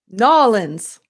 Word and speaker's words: New Orleans: New Orleans. It's two syllables.